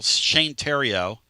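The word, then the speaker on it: Theriot: But I was watching a video channel, Shane Terrio, spelled like The Riot.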